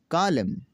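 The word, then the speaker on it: column: है वो ये है, अगर किसी लफ्ज़ में एम के बाद एन आता है तो एन हमेशा साइलेंट हो जाता है।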